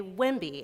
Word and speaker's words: WIMBY: So I am a WIMBY, and that's how that's pronounced.